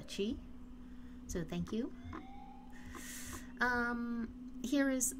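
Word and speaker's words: Qi: And, these are chi coins, apparently, not key. I kind of like key better, but someone was nice enough to let me know that it's pronounced chi, so thank you.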